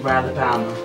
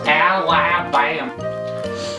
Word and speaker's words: Alabama: Oh, that is a horrible time to be in Ralabama. Alabama. Ralabama. Cut. It's pronounced Alabama.